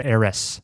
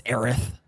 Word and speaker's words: Aerith: And you have to wait to find out whether or not it's pronounced Mako. I thought you were going to say whether it's Aerith or Eris. It's Aerith.